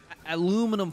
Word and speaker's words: aluminum: buy me some Alum aluminum foil there you go while wearing pants that is my American impression aluminum aluminum no it's not aluminum it's aluminum that's how we pronounce it here in the states how many horsepowers that